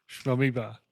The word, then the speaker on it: Amoeba: It rhymes with Shmoeba. Amoeba.